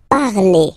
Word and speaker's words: parlez: Let's see now for vous, vous parlez, okay? Remember, a Z, when you combine them together, you get the sound E, vous parlez, All right, and the last one.